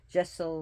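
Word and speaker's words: deiseal: So Jessel means to go clockwise, Widdershins means to go counterclockwise. So remember that. Jessel, which is spelled Diocel, is clockwise, Widdershins is counterclockwise.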